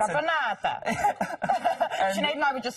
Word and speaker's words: Caponata: Esatto. Your pronunciation is very good. It's Caponata.